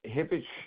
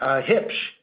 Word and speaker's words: Hipsh: Hipsh is how you pronounce it.